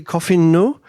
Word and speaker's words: Coffineau: joined by bruno and i'm going to say his name wrong probably coffee no is that is that more or less right bruno perfect oh very good well